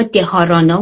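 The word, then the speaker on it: dharana: به این پنجمی که میرسیم حالا دوباره بهش برمیگردیم: دارانا، دیانا، حالا اینا دهارانا و دهیانا هم تلفظ میشه، و بعد سامادی.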